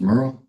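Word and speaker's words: Merrill: Merryill, do you understand you have the right to an attorney? Yes, I do. And my last name is pronounced Merurl.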